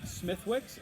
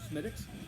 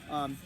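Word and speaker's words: Smithwick's: those of you newbies out there it's not pronounced smithwicks and i'm sure 98 of you know that but uh don't go to a bar especially in irish bar and ask for a smithwicks it's called smitics smidx red ale and harp traditional lager both fantastic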